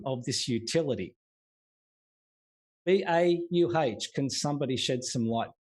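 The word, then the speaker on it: BAUH: I bet it's BAW. Bore? Is it bore? B-A-U-H. I would think it would be pronounced BAW. I watched your video and that when you brought that up. And I'm thinking, I'd say BAW. Bernard? It's bau. It's Portuguese, apparently.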